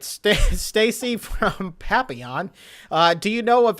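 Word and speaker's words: Papillion: I come to find out that's how you pronounce howy say how' you rizy say you have to say from the French papon I didn't even know what you were talking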